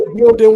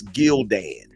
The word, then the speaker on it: Gildan: How the fuck you don't know V-necks is and for the record, it's Gildan. No, it's Gildan. It's They're exactly Gildan. the same price. We don't pronounce the A.